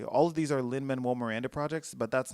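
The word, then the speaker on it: Lin-Manuel Miranda: All of these are Linman Miranda projects. Let me say his name correctly. All of these are Lin Manuel Miranda projects, but that's not even all of what it is.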